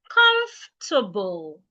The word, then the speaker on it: comfortable: The right way to pronounce it is comfortable. Comfortable. Comfortable. The O and the R in the word are silent.